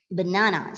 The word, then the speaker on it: banana: schwa or e sound for example banana see it's banana right we won't say banana banana it's not na it's no okay it's so that